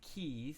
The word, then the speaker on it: quays: so this word here it looks like quays but I believe it's pronounced Keys a key is like